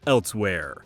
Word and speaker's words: Elsweyr: the Elder Scrolls online random letters that may or may not make a word but I'm pretty sure it's pronounced elsewhere are coming out this